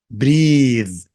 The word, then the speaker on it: breathe: pin pin breath breath breathe. خلي بالك من النطق الأولانية breath لأنها اسم النفس، لكن التنفس أو يتنفس بقى اللي هو الفعل breathe.